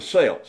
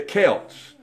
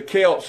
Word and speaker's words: Celts: I think I've been talking about the sales that's because that's the way it's spelled see elt but but they're actually the Celts and it's the Celts and their pagan priests